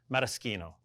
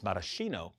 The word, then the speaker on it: Maraschino: And the third of our alcohol ingredients, Maraschino. Often mispronounced as maraschino, but it's a hard sound in the Italian language.